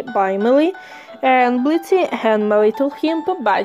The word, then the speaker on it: Blitzø: Bodyguarding and people pronouncing the O in his name.